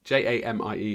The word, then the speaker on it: Jamie: Jaime weird that just one eye in between j-a-m-i-e is my name j-i-m-e is Jaime Jamie um did I spell that wrong I would have thought it'd be